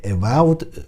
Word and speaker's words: Evolve: من استراتژی خیلی دوست دارم و از این بازی و Evolved ببخشید تلفظ درستش اینجوریه، Evolved خوشم اومد، ولی از هیبلید چیزی ندیدم.